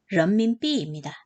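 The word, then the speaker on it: 人民币: 중국 발음으로는 런민비입니다.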